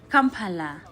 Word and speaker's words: Kampala: That's how they actually pronounce their city. The way we say Kampala, we say like Kampala, Sununda Kampala. Like for them, they say they say this is the way they put it. Kampala.